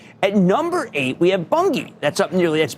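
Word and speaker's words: Bunge: At number eight, we have Bungie. That's up nearly That's B U N G E. That's how you pronounce it though.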